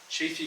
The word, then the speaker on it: Chaffey: Chaffey College.